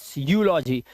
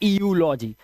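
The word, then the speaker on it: eulogy: एंड ईयू यहां पर भी है यूलॉजी, ना कि ईयूलॉजी, इट्स यूलॉजी, ठीक है, यूलॉजी।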